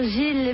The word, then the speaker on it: JIL: Gilles, ça s'écrit J-I-L.